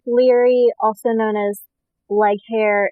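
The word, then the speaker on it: Laoghaire: known as leg hair, is how anyone who like read her name before they ever like find out how to pronounce it, it's spelled like Laughaire, and so you read it and you're like, log hair, and then you just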